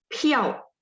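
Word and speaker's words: 票: Piao bacanya PHIAO, nada 4.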